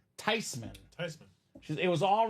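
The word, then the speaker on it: Theismann: know what he said oh yeah tysman that's a German name how could everyone get it wrong all this time wow uh so lo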